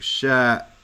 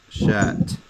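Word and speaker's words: شاة: when you do that, it's going to sound like shat with a hamza, and there's another word similar to it. So the majority of times that they're going to pronounce it, they're going to pronounce it as a ta, shat, to let you know that it's a ta marbuta there, right? And let you know what word they're talking about.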